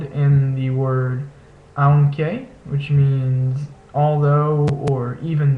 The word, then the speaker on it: aunque: Next is this a-u combination, which makes a sound similar to the English word cloud.